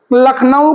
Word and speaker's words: लखनऊ: लखनऊ में नखलू कहते हैं।